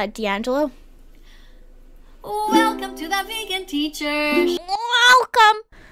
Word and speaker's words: D'Angelo: his name is d'angelo d angelo it's not dandelo or else it would be one word or one name like there would be no little what's that called comma no a hyphen no apostrophe i'm too tired for